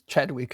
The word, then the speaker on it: Chadwick: I hope it's Chadwick is the correct pronunciation.